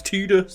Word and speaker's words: Tidus: it's annoying because literally the second word on this Wiki entry on Titus tius is Titus pronounced tus bollocks to that I was going to say you've already got people in the comments correcting you on that one of like well technically it's tetus I don't care like